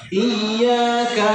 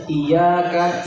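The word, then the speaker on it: إياك: Iyyaka na'budu wa iyyaka nasta'yaka na'budu wa iyyaka nasta'. Coba diperhatikan. Iya, ada huruf ya bertasdid juga. Jadi bukan iyaka iyaka tapi diayunkan sedikit.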